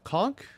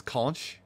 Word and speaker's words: conch: brofkowski anyway I like even though it's spelled like conch like you would think you know it was basically like English spelling it's conk okay I was about